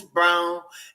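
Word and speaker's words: Braun: guy that was then a rookie Brown uh spelled like brown but it's pronounced Brown coming off their bench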